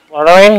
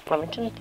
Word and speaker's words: Flottering: I think it's Flottering, not Flemington.